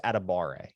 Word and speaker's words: Adebawore: But on that note, I also found out I've been saying PJ Adebawore's name wrong this entire time. Mm-hmm. It's Adebawore. So Adebawore. It's like that's so much easier than Adebawore. Yeah.